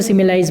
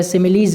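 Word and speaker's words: simile: या समानता दे दी उसको सिमिलाइज बोलते हैं, या सिमिलीज भी आप इसको बोल सकते हैं। दोनों प्रोनाउंसिएशन सही है अपनी जगह।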